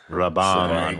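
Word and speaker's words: Rabban: Bautista did a good job as Beast Rabin, I thought. Like, I think his anger really sold Beast Rabin. Yeah. Raban, guys.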